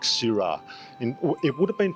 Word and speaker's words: Syrah: variety was nothing like Sira. It would have been pronounced sir, but it was actually c i r a s. And uh the French word has sort of metamorphosed to s y r ah and in Australia it's